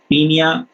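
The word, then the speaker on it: Paeonia: और ये देखिए, सबसे पहली चीज मैं आपको एक्सप्लेन करने वाले हूँ, पियोनिया जेपोनिका, या इसको हम शॉर्ट फॉर्म में बोलते हैं पीनिया, ओ साइलेंट, पीनिया जेपोनिका।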